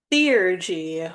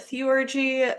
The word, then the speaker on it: theurgy: We are your hosts, El and Amaya, and today's episode will be about theurgy, which that is the way that it is apparently pronounced. I've also heard people call it theurgy, so take that with a grain of salt.